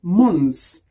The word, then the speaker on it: months: Mais attention, lorsque month est au pluriel, le TH disparaît et c'est prononcé months. 1 month, 2 months.